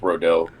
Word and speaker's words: Rodeo: i spelled it r-o-d-o like rodeo but it's pronounced rodel like rodel drive okay so there's some information